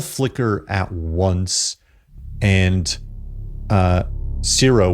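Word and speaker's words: Ciro: And, uh, zero, which is C I R O, just to kind of get that out there. Uh I know I don't I pronounce it like zero probably.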